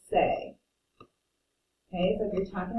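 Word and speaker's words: c'est: this on the bottom c apostrophe e f t means it it is or it's and we pronounce it say okay so if you're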